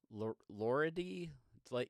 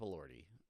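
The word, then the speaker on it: Elordi: Uh, Jacob Allorti from Frankenstein, who uh, fun fact, my wife cannot say his name correctly. Uh, she's Jacob Loridi. Jacob Lordi. Uh, it's Jacob Lordi.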